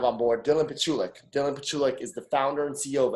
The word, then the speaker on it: Pichulik: me with your last name again it's actually pronounced petruvic the chula so i'm extremely happy to have on board dylan petrulic dylan pachulek is the founder and ceo of xcel property